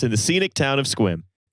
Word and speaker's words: Sequim: The worst part is it's not it's not spelled squim. It's spelled like sequim like a sequim dress might be. Um, and then and then minute one of joining the call, I was assaulted with the knowledge that it's pronounced squim.